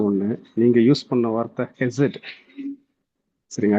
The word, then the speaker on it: Chesed: கருத்து உங்களுடைய இன்றைய சர்மன்ல எனக்கு பிடிச்ச ஒண்ணு, நீங்க யூஸ் பண்ண வார்த்தை ஹெசட். சரிங்க, ஆக்சுவலா வந்து தட் ஷுட் பி ப்ரொனவுன்ஸ்ட் எப்படின்னு கேட்டீங்கன்னா CHESED. இதை வந்து கெசட்னு நம்ம ஆங்கிலத்தில் ப்ரொனவுன்ஸ் பண்ணுவோம். பட் அந்த சி வந்து சைலண்ட்ல இருக்கணுங்க.